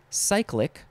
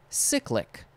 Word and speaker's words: cyclic: might say cycleway is you could pronounce it two ways cyclic or cyclic cyclic cyclic or also